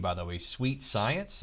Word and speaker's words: suitesciens: I love your name, by the way, suitesciens. Is that how you say it? That is how you say it, suitesciens.